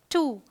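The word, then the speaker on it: two: है rule number three कुछ words में डब्लू साइलेंट होता है बिल्कुल कंप्लीट जैसे यह है होल यह है टू यह है सोर्ड यह है आंसर ऑल राइट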